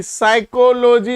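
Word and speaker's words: psychology: चलिए, कहता है साइकोलॉजी, साइकोलॉजी, साइकोलॉजी होता है, पी साइलेंट रहता है, साइको, PSYCHO, एलोजी भाई, लोजी तो सब में है, लोजी सुनो जी, लेकिन यहां साइकोलॉजी पूछा है, साइकोलॉजी।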